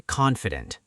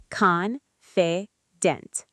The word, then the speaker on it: confident: Now let's try confident. Confident. 3 parts. Confident. The stress is on the first part.